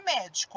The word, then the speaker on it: médico: Por exemplo, a palavra médico. Olha só, médico. A sílaba mais forte é o mé. Então, ó, o co é a última, o di é a penúltima e o mé é a antepenúltima.